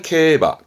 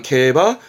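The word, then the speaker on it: 競馬: 요게 중요합니다 글자는 그렇죠 말을면 말마자 만해요 이때 발음은 바입니다 명심하세요입니다 케바 경마는 케바 바 뒤글자 했던 거 바퀴륜 자거든요 경륜이 발음은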